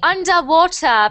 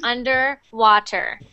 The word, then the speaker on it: underwater: They don't really say the R when they are talking about underwater, right? Yeah, That is yeah. a British accent. Okay. So I teach American and Canadian pronunciation. So for English, sorry, for Canadian and American pronunciation, you would say that underwater.